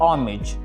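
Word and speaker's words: homage: आप इसे हावर, honest, Honor और हॉमेज पढ़ने की गलती मत कीजिएगा, बल्कि इसकी सही प्रोनाउंसिएशन होगी आवर, ऑनेस्ट, ऑनर और ऑमेज।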